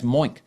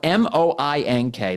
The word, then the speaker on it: Moink: That's Moink.